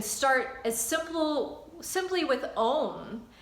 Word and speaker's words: Om: as so simply with own which is actually three syllables ah so um which is said to